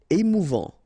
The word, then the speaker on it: émouvant: Émouvant. Final T not pronounced.